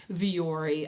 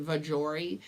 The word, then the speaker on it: Vuori: with this brand of Vuori?" And I said, "No, I wasn't." And it's not Vuori, guys. There is no J, but that is how my husband pronounces it.